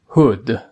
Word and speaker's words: hood: مورد بعد hood hood. دقت کنید هود یا هود تلفظ نکنید، یه صدایی هست بین او و او.